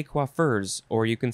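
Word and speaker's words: coiffeur: which was koif or koif this one is quaffer c-o-i-f-f-e-u-r kuafur noun from 1824 a man who is a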